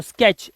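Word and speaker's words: sketch: ऐसे ही स्का स्क और टीसीएच होता है च ये क्या बन जाता है च तो स्केच ऐसे ही बेट बी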